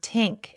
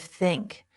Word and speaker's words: think: So learners replace it with t or d. They say tink instead of think or this instead of this. You must train your mouth to make the correct sound. Put your tongue between your teeth. Push air out for think. Add voice for this.